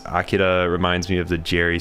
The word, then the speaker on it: Akira: Figured that one out after I was watching some other show and they said the guy's name was Akira. I was like, oh, that's how you pronounce it.